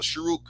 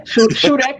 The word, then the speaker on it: shuruk: Is that how you say it, sister? A shuruk? Correct. I would say that. Yeah. Shudak or shuruk.